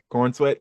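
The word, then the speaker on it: Corenswet: And Corn Sweat is how you pronounce his last name? Corn Corn sweet, sweat. Corn- like pops. Corn Oh. sweat. Corn Sweat.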